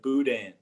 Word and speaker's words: boudin: to pronounce it uh well we pronounce it a little bit more like cajun french i guess like boudin yeah the boudin we